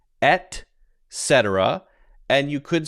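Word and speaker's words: et cetera: because it's kind of a tongue twister it's pronounced at cetera and you could say etc so you hear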